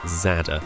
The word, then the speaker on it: Zadar: quickly discovered after arriving then it's pronounced Zada and not as I and many English speakers might have assumed so in a post